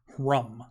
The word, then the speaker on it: Hrumh: rum, and it's just, think of it as more of a guttural kind of roar. Kind of like a deep like rolling in the throat.